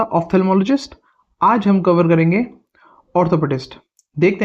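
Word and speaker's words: orthopaedist: spelling है इसकी ओ आर टी एच ओ पी ए ई डी आई एस टी ऑर्थोपेडिस्ट आर का pronunciation नहीं होता वैसे इसके अंदर इसका प्रोन्सिएशन होता है ऑर्थोपेडिस्ट ये एक डॉक्टर है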